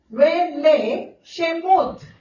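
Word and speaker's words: ואלה שמות: Exodus की पुस्तक, अगर हम कहेंगे इब्रानी में इस पुस्तक का शीर्षक है वेले शेमोत। आप स्पेलिंग इंग्लिश में लिख सकते हैं VELLEH वेले शेमोत, SHENOTH शेमोत।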